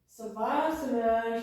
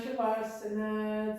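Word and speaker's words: शवासन: Savasana, Shavasana. It's pronounced a couple of different ways, depending.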